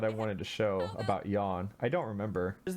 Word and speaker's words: Jan: his name up and it's spelled j-a-n so we pronounced it jan and that's a reference to that i know it's yawn now because it's german but uh in this